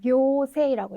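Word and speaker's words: 行政: 하나 정도 더 보시면 행정 같은 거 하실 때도 네, 교세라고 읽어주셔야 되는 네, 최소한 이렇게 두 개 정도는 교로 읽는 발음을 암기를 해두셔야 되겠습니다.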